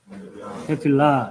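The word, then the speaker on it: תפילה: 그래서 발음을 일단 예, 테필라 이게 이제 기도라는 단어입니다.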